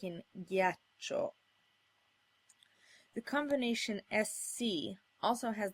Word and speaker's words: ghiaccio: to get a hard G sound like in ghiaccio.